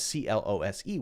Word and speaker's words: clothes: you want to but a lot of people just say it the same as c-l-o-s-e which is close Okay the close let's